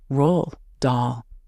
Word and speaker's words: Roald Dahl: Though I recently learned the name is more accurately pronounced as Roald Dahl. The name's Norwegian, apparently, and that first D is silent.